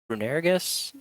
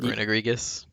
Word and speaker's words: Runerigus: You've got Heatran, you have Runerigus. That's what I'm going to say for it, but I've always um, pronounced it Runegrigus.